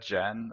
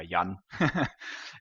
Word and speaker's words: Jan: pronounced as you said, Jan, which is a more female has a form of female touch. In German, you just go by Yan.